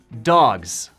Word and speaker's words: dogs: Se dice dogs. Se pronuncia con una Z, no con una S.